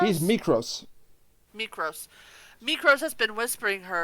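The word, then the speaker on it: Mykros: How do you pronounce his name? Mikros? he's Mikros.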